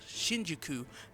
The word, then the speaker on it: Shinjuku: Yozora, and Riku are in a town called Shinjuku.